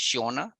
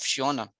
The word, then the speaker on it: Sionna: I think it's Sionna, the pronunciation is an Irish name.